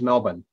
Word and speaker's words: Melbourne: It's just very hot and beautiful here in Melbourne at the moment during summer.